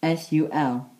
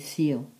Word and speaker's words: Sul: Sunday is spelled S-U-L, or until this seal, dydd Sul.